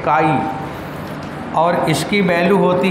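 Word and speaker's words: chi: इसका नाम क्या है KHI, जिसमें H साइलेंट है, तो KHI में क्या हो गया, काई, इसे बोलते हैं काई।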